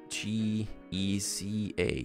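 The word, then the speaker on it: Géza: a G-E-J-Z-R-A is like, in Hungary it's G-E-Z-A, so it's Geza, this is how you pronounce it, but since I guess this language does not have an A, it's like a E-E-J.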